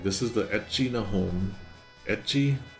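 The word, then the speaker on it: ecchi: Etchi is um the English word H is how they pronounce eti and the the letter H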